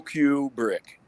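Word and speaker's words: Kubrick: Stan KU kuri okay like a pool Q brick got brick like a q and a brick yep not like R Rubik's Cube yeah Rubik's cubic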